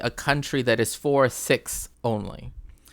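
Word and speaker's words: Sikhs: another aspect of this too is with the siks right or or six technically that's how you have to pronounce it's t it's six um and that is that they also were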